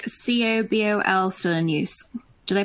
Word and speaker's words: COBOL: Why are languages like COBOL still in use? Did I pronounce that right? So COBOL. Everyone calls it COBOL. Common something business-oriented language. Common business-oriented language, COBOL.